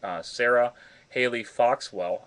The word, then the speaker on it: Sarah Haley Foxwell: The next case is for Sarah Haley Foxwell. I pronounced that correctly, Deborah?